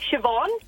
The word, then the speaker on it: Siobhan: And so the BH is pronounced as a V. Yeah, it's kind of like Siobhan.